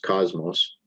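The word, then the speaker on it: κόσμος: It is Strong's G2889, pronounced cosmos.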